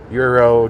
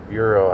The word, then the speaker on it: gyro: Euro gyro, whatever you want to call them. Euro, I think, is the right pronounce pronunciation.